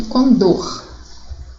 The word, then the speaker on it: condor: Então, as sílabas a serem circuladas seria o in, de ruim, o bel, de nobel, circuito seria o cui e o condor, o dor, ok?